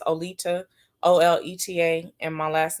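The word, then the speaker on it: Oleta: is spelled o-l-e-t-a a lot of people mis pronounce my name so i just go by leeda it's olita o-l-e-t-a and my last name is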